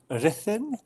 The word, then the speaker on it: Ruthin: I think the correct pronunciation is Ruthin. It's Welsh. It's very northern Wales.